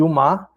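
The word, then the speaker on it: ओम्: regra do do sânscrito a com u vira o e o o é é é aproximado é reunido a a sílaba ma que fica emudecida M então o e essa essa essa união das das dessas três sílabas a o e ma para fazer om que é uma sílaba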